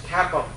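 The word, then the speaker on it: CAPM: the capital assets pricing model which is usually pronounced as cap which is um a uh which is interesting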